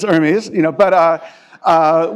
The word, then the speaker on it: Hermes: And some people were pronouncing it like the French Thai company rather than Hermes. So it's not Hermes, it's Hermes, you know, but uh uh we had we didn't have really salient symbols.